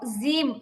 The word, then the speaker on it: ج: আবার বলছে জিহ্বার আগা থেকে বলবেন না, জিহ্বার আগা থেকে বললে জিম হয়, এটা চিকন শোনা যায়, বাংলা জয়ের মতো শোনা যায়। আমাদের উচ্চারণ জিহ্বার মাঝখান, জিহ্বার মাঝখান, জিম, জিম।